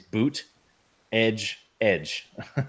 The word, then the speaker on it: Buttigieg: He put in parentheses boot, edge. So I don't know if it's Buttigieg or Buttigieg or Buttigieg, but it's boot, edge.